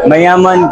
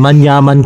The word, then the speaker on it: Manyaman: Mayaman Kenya. Onto the next yolo moment. Kita naman si Vinch niya tinuloy tamang pronunciation manyaman kenny dapat yun ' ba grabe